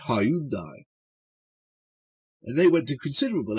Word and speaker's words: Hyundai: were much more memorable they were Hundai although being British we still tend to pronounce it Hyundai and they went to